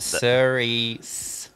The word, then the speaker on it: Cerise: we confirm what color Cerise looks is a reddish pink oh is that like are we talking this kind of color pronounced series okay cool got it I